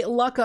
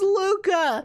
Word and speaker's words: Lukka: i have so many every time i play laka on the channel everybody in the comments on youtube is like it's luca i can't stand you saying luck but dude